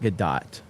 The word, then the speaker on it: Gadot: So yeah, you have Gal Gadot playing the it's Gadot. I call it Gadot.